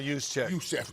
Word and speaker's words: Juszczyk: How do you pronounce his last name? Kyle Juszczyk.